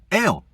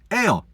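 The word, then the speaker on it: אל: God is spelled olive lammed pronounced ale. God in Hebrew is pronounced ale. Like you're drinking ginger ale, which I only drink when I'm sick.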